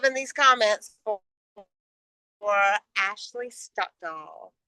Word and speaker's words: Stockdall: these comments for Ashley Stockdall. Is it Stockdall? Is that how you say it? Your You're the last name? first Yes, Stockdall. person. You're the first person to ever say it correctly.